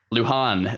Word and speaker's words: Lujan: got a last name it starts with an l and you pronounce it luhan there it is there